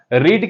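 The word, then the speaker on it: read: अगर कोई नया बच्चा होगा उसको कंफ्यूज होगा रीड की जो तीनों फॉर्म होती है वो होती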